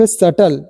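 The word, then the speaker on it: subtle: only वो य देख सटल बीटी जो होता है व भी हमारा साइलेंट होता है क्या सटल पढ़ेंगे य डेट है बीटीई भी साइलेंट होता है डेट है ओनली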